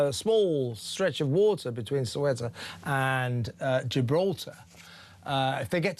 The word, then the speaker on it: Ceuta: I'm told you should pronounce it Ceuta. Well, I'm not doing that. I'm not Spanish, am I? Espanol, I'm not doing that. So it's Ceuta, sorry.